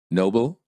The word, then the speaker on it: noble: Dangers of stressing the wrong syllable. Stressing the wrong syllable sometimes creates misunderstandings because people think you're pronouncing a completely different word. The following words are great examples of why syllable stress is such an important component of the American accent. Listen and repeat.